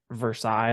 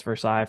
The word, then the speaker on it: Versailles: the map, you would see it as Versailles, like the Palace Versailles from France. But in this part of the world, you are quickly identified as not being from the local area when you say it like that. It's Versailles. They say Versailles.